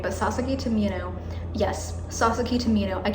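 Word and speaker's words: Sasaki to Miyano: First of all, Sasaki to Mino, oh my god, I don't know why I forgot how to say the name, but Sasaki to Mino, yes, Sasaki to Mino.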